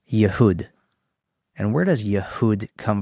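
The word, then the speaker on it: يهود: Now, how do you say Jew in Arabic? No idea. Yehud.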